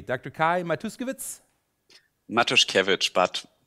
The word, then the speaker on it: Matuszkiewicz: um first of all your name am I pronouncing it correctly Dr Kai matuskiewicz matters coverage but matuskovitz is also fine okay thank you very much